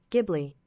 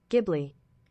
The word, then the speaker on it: Ghibli: So I mean, HBO Max is pretty awesome because we never thought we would be able to like stream all the Studio Ghibli movies on like locally in the US.